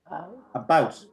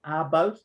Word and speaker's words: about: i would say it about see this sound it's not about but about okay so this sound it's not an out but it's an oh about about right so not about but about about okay maybe it's the